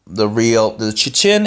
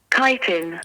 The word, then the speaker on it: chitin: Chitin. Chitin. Oh yeah. Chitin. Chitin. Oh no. Chitin. Chitin. It sounds like a K.